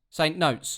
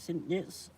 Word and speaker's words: St Neots: St Notes. Excuse you, mate. How do you pronounce St Neots? Is it St Neots?